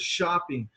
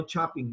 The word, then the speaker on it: shopping: who say okay well pronunciation is shopping shop no chopping no chopping shopping and shopping okay good job next